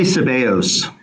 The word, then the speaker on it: Sebeos: to bring up is cbos if i'm pronouncing that correct is it sebios i i would say sebeos okay i want to